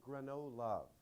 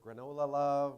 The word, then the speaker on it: Granolove: You pronounce it Granolove, just so you know. We hear granola love, we hear Granolove, but this is our second verse at 1 million cups.